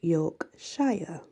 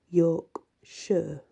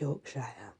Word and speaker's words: Yorkshire: Yorkshire Yorkshire actually and let's say it is pronounced Yorkshire but some people do just say York sure but it's Yorkshire thank you for listening and many blessings